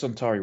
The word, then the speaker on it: Suntory: But it's I know it's Suntory whiskey. I know that's how you pronounce that.